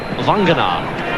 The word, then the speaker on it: Vagana: Nigel Vagana. You'd like to know he's actually pronounced Vangar. We might stick with Vagana.